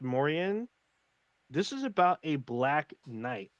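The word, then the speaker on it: Moriaen: spell the name name it's m-o-r-i-a-e-n i believe it's pronounced mauryan this is about a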